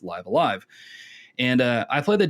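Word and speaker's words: Live A Live: for live alive which i found out that's apparently how you pronounce it i thought it was live i'll live because that sounded cooler but no it's live alive and uh i played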